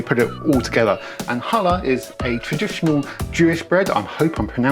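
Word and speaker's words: challah: it all together and hala is a traditional jewish bread i hope i'm pronouncing it right i think it's pronounced hala but it's spelt like chala and it is a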